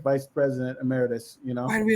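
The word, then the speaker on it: emeritus: think I think terce I'm pronouncing that incorrect isn't that ameritus ameritus thank you isn't that an honorary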